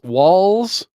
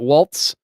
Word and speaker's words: Walz: Kamala Kamala and walls are they pronouncing this walls not Waltz uh they are uh